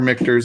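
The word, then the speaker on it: Michter's: barrel strength rye from mixtures depending on who you are or mixtures if you want to say it right is it a 21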